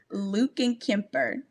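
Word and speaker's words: Lückenkemper: Her last name is so hard to pronounce. It's Lukenkemper.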